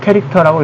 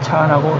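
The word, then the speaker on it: char: 이거는 캐릭터라고 있습니다. 차라고 읽지는 않습니다.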